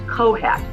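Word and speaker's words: COHAT: below the gum line term that I like to use is Co hat and cohab is spelled co h80 and it stands for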